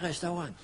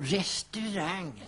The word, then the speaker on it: restaurang: De kan inte säga restaurang. De säger Augusti och restaurang.